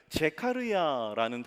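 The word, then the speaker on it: זְכַרְיָה: 그래서 이 스가랴, 그래서 원래의 발음은 제카르야라는 단어로 해서 이 스가랴라는 뜻은 여호와께서 기억하신다라는 뜻이에요.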